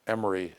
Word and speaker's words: Emory: world started to know Emory is here in Atlanta and it's spelled e m o r y not m r y and that's the kind